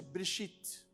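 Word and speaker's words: בְּרֵאשִׁית: Nós percebemos que existe um E bem pequeno, que é exatamente o Shivá, e ele não aparece na pronúncia, Bereshit.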